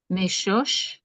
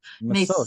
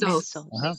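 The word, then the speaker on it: משוש: Meshosh. But sin is never right. That Meshosh. is to say, sin dot is on the left. It's never on the right. Mesos. Mesos.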